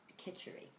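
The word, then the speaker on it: kitchari: it's a recipe for an ayurvedic dish called kitchery which is spelled a few different ways I spell it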